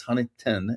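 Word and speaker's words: Huntingdon Valley: And it's Huntington, not Dunn. I know everybody, you and Keith, like make fun of my town that I am in. It's spelled with a D, Bill. It is. I agree, but that's not how they pronounce it, or at least not that.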